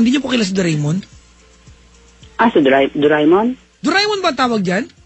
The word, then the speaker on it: Doraemon: kasi magkapangalan sila eh Dora rayon doraimon doraimon pala ang tawag tamang basa Oo doraimon ang tamang ano doon dyon tamang pronounce do doraimon sikat po ba si